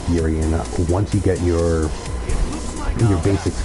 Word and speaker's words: Urian: And for Eric, it's pronounced Urian, not urine.